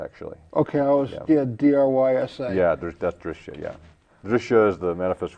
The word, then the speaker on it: Drishya: even call it Prakriti actually, or Drashtra, or Drishya actually. Okay, D-R-Y-S-A. Yeah, that's Drishya, yeah.